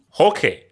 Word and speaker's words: Roque: You guys not know that in Brazil the R is actually not pronounced.